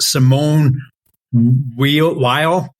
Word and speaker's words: Simone Weil: Well, the very first quote, Brian, you probably appreciated because it came, I think it's pronounced Simone Weil, and she is a sister of a famous mathematician.